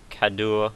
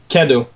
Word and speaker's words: cadeau: There's an inventory also, and you can see how many of these cadeaux you've gotten. How do you say that? Kado. It's Cadeau. a gift. Okay. It's a Kado. It's like saying K-A-D-O.